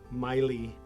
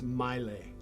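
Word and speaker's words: Maile: Somebody called and said, "You're saying Miley wrong." Okay. It's Milelay.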